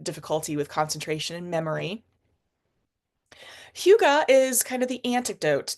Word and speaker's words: hygge: emerging back in Spring time but um it's pronounced Huga and it is uh primarily a big part